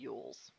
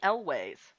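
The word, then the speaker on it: Elwes: I spent my entire fucking life calling this man Carrie Yules. How do you say it? It's Carrie Elways.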